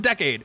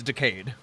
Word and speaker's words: Decade: R are Decay and remember it's not decade it's decade decade m zo is an